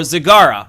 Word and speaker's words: Zagara: Today we are going to be going over the range specialist Zagara, or Zagara, I believe is the correct pronunciation in case anyone is wondering out there.